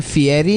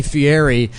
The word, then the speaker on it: Fieri: He pronounced his name Fieri.